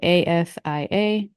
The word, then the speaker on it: ASIA: So ASIA, Asia.